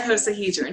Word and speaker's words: icosahedron: Icosahedron.